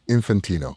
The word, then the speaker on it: Infantino: Well, I I started to read uh how do you pronounce the the the head of FIFA's name? Infant Infantino.